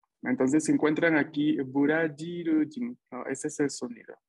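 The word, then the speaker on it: ブラジル人: Recuerden que la pronunciación de la consonante J del español en romaji, en japonés, es J. Entonces, se encuentran aquí burajirujin.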